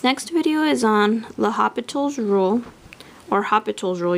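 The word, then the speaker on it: L'Hôpital: video is on the hospital's rule or hospitals rule you don't have to pronounce the l but this is used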